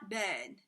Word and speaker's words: ben: mioben it's quick meal ben and that e is a smiling ed even though it sounds like it's open it's not ben it's ben okay um